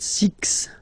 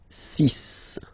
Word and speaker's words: six: And be careful here because even if it's ending with this, well, you'll have to pronounce it like s. Okay. So you get the sis pronunciation sis sis. Okay. So it's not six, it's sis.